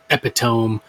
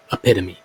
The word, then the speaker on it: epitome: the contorted epitome now many a time in my videos I have pronounced it epitome but I am almost positive I have been wrong and it is the contorted epitome anyway this model is